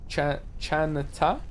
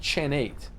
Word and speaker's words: Chenn: It's pronounced chate. Chan, not chenate.